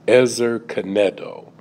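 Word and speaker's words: עזר כנגדו: And when we look at the word help meet, in the Hebrew, it is pronounced Ezer Kenedo.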